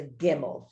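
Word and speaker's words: גימל: That would be that nun, but this is a Gimmel. Gimmel's a G, always is, never isn't.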